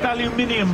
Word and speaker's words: aluminium: It's pronounced aluminium, by the way.